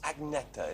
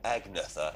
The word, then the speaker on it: Agnetha: it looks good is it how do you pronounce agnecta is that right my name is yeah there's me saying agnetha and things like that you're probably squirming every time i say acne but i can't i can't learn to say